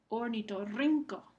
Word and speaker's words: ornitorrinco: Ornitorrinco. Rin es la sílaba que recibe el énfasis.